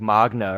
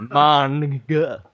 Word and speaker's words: manga: For one, it's not even spelled Magna. It's not like Magna or something. It's manga. So yeah.